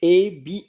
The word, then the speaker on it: habit: So the word is h a b i t in English habit and in French ab. I was telling you beforehand that we don't pronounce the h in French and habit in English